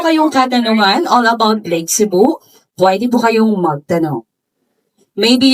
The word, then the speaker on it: Sebu: Sa word po na Lake Cebu, yung tribal word po dyan ay yung Cebu. Yung S-E-B-U po, yung tamang pagbigkas po nun ay Cebu.